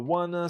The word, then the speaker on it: wanna: E é comum nós pronunciarmos esse want to como wan. A gente costuma escrever assim: "Wana, a I wanna stay home."